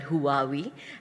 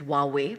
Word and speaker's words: Huawei: brand I mean we have a brand called who are we and they came to us and the right pronunciation actually is Huawei but we all call it who are we